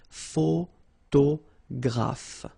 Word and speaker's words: photographe: So here, PH, and here, PH, pronounce it like F, photographe.